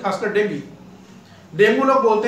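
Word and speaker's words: dengue: गिर जाती है, खासकर डेंगू। डेंगू लोग बोलते हैं, लेकिन इसका सब जो सही प्रोनाउंसिएशन है उसको लोग बोलते हैं डेंगू, जबकि इसका सही प्रोनाउंसिएशन है डेंगी।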